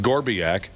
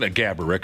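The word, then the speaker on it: Marián Gáborík: Gaborik, of course, is the real pronunciation, but Josh's uncle liked to make up different pronunciations.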